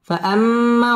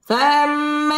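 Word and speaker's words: فَأَمَّا: فأما واجب গুন্না, فأما اليتيم মধ্যে তবাই এক আলিফ টেনে পড়তে হবে।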